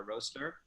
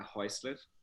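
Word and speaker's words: Roesler: location of uh galleria now a roster not a hoistlet depends on where you're from how you pronounce it and it's a gallery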